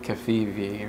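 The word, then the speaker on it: covfefe: Is that how you pronounce it? That's how I pronounce it. Don't cafefe on my coffee. Cafefe. Don't cafefe on my face. I feel like it was a harder, for me, it was like a harder V. Like Kafivi or Kafifi?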